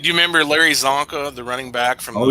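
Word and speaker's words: Csonka: It took me a while to understand that because in Slavic languages, the C is not pronounced as an S or a K. Oh. So it's always different, and in some cases it can be silent.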